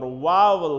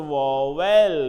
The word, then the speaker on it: vowel: uh 20 sounds or vowel sounds we correct about the pronunciation of the word vowel do not pronounce as a war well it is vowel and vowel and if